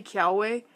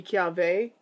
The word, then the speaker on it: Kiawe: be pronounced normally but if they're followed and preceded by a vowel then it makes more of a V sound so I know people do say Kel way but I have heard